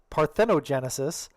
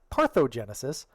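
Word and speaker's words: parthenogenesis: If one of those corrections is that throughout this episode I've consistently mispronounced parthnogenesis as parthogenesis, believe me, I'm very aware of that.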